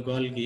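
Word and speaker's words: Golgi: body বা গলগি বস্তু অনেকে এটাকে গলজি বস্তু বলে তোমরা এসএসসিতে গলজি বস্তু বলে এসেছো এখন এটাকে গলগি বডি উচ্চারণ করাই সবচেয়ে ভালো যে গলগি বডি বা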